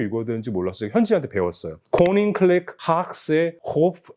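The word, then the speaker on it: Koninklijke Haagsche: 코닝클렉 하악세 호프 앤 컨트리 클럽이라고 읽더라고요.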